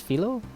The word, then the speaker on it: Filo: now I'm pretty sure it's filo not Philo filo I'm pretty sure it's filo that's how you pronounce it that's the next party